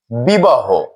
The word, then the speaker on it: বিবাহ: বিশেষ্য পদের শেষে হ ধ্বনি থাকলে হ এর অকারটি ও রূপে উচ্চারণ হয়। আমরা একটি উদাহরণ দিয়ে দেখছি। বিবাহ। বিবাহ একটি বিশেষ্য পদ এবং এর শেষে হ রয়েছে। হ এর সাথে অকার রয়েছে। এই অকারটি নিয়ম অনুযায়ী ও রূপে উচ্চারণ হবে।